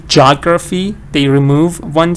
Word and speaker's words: geography: of geography, they say geography, they remove one syllable? So that's what's happening here. Here, the book says geography instead of geography. They remove the ea sound, so they get the jaw sound, geography.